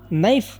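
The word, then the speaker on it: knife: ಇಲ್ಲಿ K silent ಆಗುತ್ತೆ ಕೆ ನ ಬಿಟ್ಟರೆ ಇದನ್ನ ನೈಫ್ ಅಂತ ನಾವು ಪ್ರೊನೌನ್ಸ್ ಮಾಡಬೇಕು ಇದರ ಅರ್ಥ ಕನ್ನಡದಲ್ಲಿ ಚಾಕು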